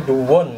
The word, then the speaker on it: Doowon: Karena lisensi Dewon, kita bacanya Dewon ya, lisensinya Denso Corporation, artinya sama dengan Denso yang ini made in Jepang, ini made in Korea.